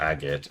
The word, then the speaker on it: Agate: though they're agot or agate or god I've already forgotten how to pronounce it. Agate. Your name is Agate.